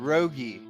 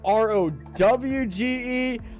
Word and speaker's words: Rauge: First of all, let me correct you guys on how to pronounce Rauge. Gosh, That's. dang. Let's just settle that right now, boys. Rauge. Rauge. There you go. Okay, All right. I've seen ROWGE, like rowing the boat, but whatever I see